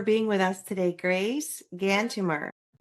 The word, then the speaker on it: Gantumur: So the my Mongolian name is Gantumer. Since it's a little long and difficult to pronounce, you can call me Grace.